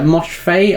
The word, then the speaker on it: Moshfegh: Is a book you mentioned earlier, and this is Lapvona by Tessa Moshfegh. I think that's how you pronounce it. Is that how you say her surname? Moshfegh, yeah.